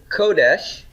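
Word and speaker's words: קודש: last one this is Kodesh kodesh this is the word for a holiness in Hebrew holiness has first syllable stress kodesh it doesn't have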